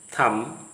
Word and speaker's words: thumb: The words are coming to the screen: bum, thumb, limb, tum, climb, climber, plumber. Don't say thumb. The B sound remains silent.